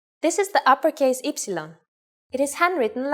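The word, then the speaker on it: ύψιλον: because well you'll see its name is ipsilon often called Upsilon in English and it sound is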